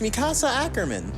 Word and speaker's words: Mikasa Ackerman: that is how you say her name it's mikasa ackerman yep it is mikasa mikasa that was about